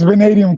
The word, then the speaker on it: Vanadium: How do you pronounce that man? It's Venadium Comics.